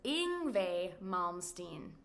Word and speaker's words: Yngwie Malmsteen: You pronounce his name as Yngwie Malmsteen.